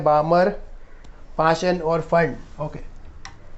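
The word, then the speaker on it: Pfund: Remember इसको पी फंड पढ़ते हैं बहुत लोग, पर वो गलत है, इसका एक्चुअल प्रोनाउंसिएशन फंड सीरीज ही है।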